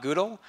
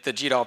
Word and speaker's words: GDAL: And it is, in fact, pronounced GDAL, not GDAL.